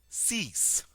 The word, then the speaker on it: six: k six CE CE cease so this is a cognate um notice we do get to pronounce the X here and it is pronounced like an s seven set set set